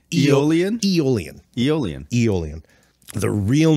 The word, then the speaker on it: Aeolian: It's Aeolian. Wouldn't that start with a Y? No. Aeolian? The only word I know that is spelled like that and actually has it's got a direct parallel is Aeolian, which is from Aeolian harp. It's spelled exactly like that. It's Aeolian harp.